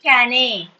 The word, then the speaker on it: cane: The reason is E is silent. You are not pronouncing it cane. It is cane. It's not caney or cane or cane. No, it's just cane.